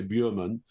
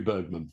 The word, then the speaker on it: Bergman: instance Bergman they'll say you don't want to pronounce it correctly because nobody in England will know who you're talking about if you say Berman it's got to be Bergman.